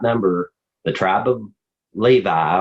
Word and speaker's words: Levi: number the tribe of Levi or levy some people pronounce it neither take the